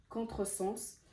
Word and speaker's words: contresens: Si vous voyez dans ce mot-là, quand je l'ai prononcé, le S, il ne s'est pas prononcé Z, il ne s'est pas prononcé le son Z, il s'est prononcé en son S, contresens.